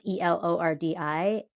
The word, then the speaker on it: Elordi: I don't know if I'm pronouncing it right. Elordi. It's Elordi.